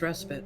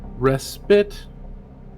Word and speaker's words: respite: word you used okay it's pronounced respite respite yes respite so like re ah